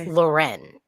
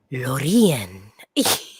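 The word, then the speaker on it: Loreen: and then laureen which she has said in numerous interviews that her name is lauren or it's loren like that's actually how you say it is loretta like she like i've i've heard so many interviews where she's like it's loren yeah but then swedes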